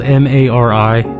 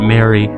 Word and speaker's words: Mari: friend group you have his sister Mari spelled m a r i some people pronounce it Mary it's pronounced Mari like the Maui that civil